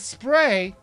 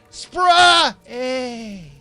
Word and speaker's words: SPRay: wrong it's actually pronounced spray a for some reason they capitalize most of the title except for the last two letters since the main character's name is Ray I think they're just